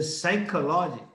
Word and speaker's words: psychology: You write psychology, but the P is silent. You say psychology.